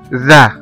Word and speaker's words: the: وممكن كمان التي مع الاتش تنطق زال او زد، زي مثلا في كلمة ذا ذا ذا. كلمة ذا او ال هنا التي مع الاتش اتنطقت ذال او زد.